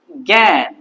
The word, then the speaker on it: জ্ঞান: মানে আমরা এখানে গান আমরা বলি না। আমরা কি বলি? জ্ঞান।